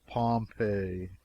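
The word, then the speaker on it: Pompeii: the public domain the buried city of Pompei they pronounce it pompe I always had an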